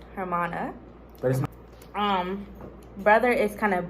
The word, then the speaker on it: hermana: Spanish Armada so now pronunciation is her mon like German uh hermana um brother is kind